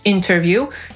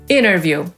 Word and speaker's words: interview: Po amerykańsku równie dobrze możemy powiedzieć interview, jak i interview, czyli wywiad albo rozmowa o pracę. Tak samo międzynarodowy to international albo international. Ważne jest to, że akcent w tym słowie nie pada na tę sylabę, która jest zaraz po tej zbitce NT. Tylko wtedy możemy to T po amerykańsku pominąć.